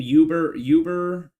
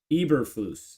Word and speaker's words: Eberflus: Uberlaw. Eberflus. Eberflus.